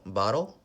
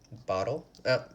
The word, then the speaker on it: bottle: till it's though so bottle little battle kettle cattle all of these words there's a lot of T's we pronounce them with a D bottle battle kettle cattle and